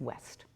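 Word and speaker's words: Ouest: My favorite restaurant in New York City, I'll say, is West. It's spelled funny, O-U-E-S-T, but it's right in my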